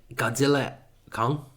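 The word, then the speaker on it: Godzilla x Kong: Godzilla Kong. I won't pronounce the X because apparently you're not supposed to.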